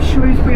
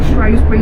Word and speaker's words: Shrewsbury: And Ludlow is in England, but it's quite close to the English and Welsh border, not far from Shrewsbury or Shrewsbury, depending on how different people choose to pronounce it.